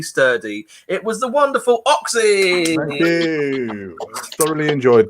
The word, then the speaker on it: OKSE: I used to spell it OXY, but then they brought out the spot cream, so I changed it.